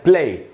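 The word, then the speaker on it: plaît: तो रेपॉन्दे सील वू, और पी से बनता है प्ले, उसकी स्पेलिंग है PLAIT। और एंड में जो टी है उसको हमको नहीं पढ़ना है, क्योंकि फ्रेंच लैंग्वेज में लास्ट वाला कॉन्सोनेंट नहीं पढ़ा जाता।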